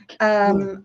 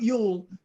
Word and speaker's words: Joule: pronounce his name? Jewell. I just took a note. Did you say Jewell? Yule, yeah. Yule. Okay. Jewel. No, not Yule, Jewel.